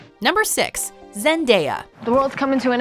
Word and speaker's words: Zendaya: contrary to popular belief her name is not zendaya in fact this name has caused so much